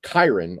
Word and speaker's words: Chiron: Yeah, you got Gadriel, which was the former commander of the squad that Titus was assigned to, and Chiron, or I think it's pronounced Chiron. Yeah, it's Chiron.